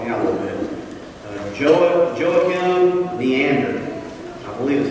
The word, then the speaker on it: Joachim Neander: Joachim Neander, I believe is how you would say his name.